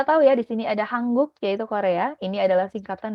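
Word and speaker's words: 한국: dengan hanggugo itu diambil dari nama negaranya yaitu hangguk yang ini Oke dan o o-nya sendiri adalah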